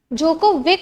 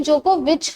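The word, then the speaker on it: Djokovic: जोकोविक होता है actually, पर इसका प्रोनाउंसिएशन जोकोविच होता है।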